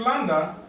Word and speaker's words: lambda: The wavelength here, we use the Greek symbol lambda, pronounce it lambda, okay, to represent wavelength, while we use also the Greek symbol nu to represent frequency.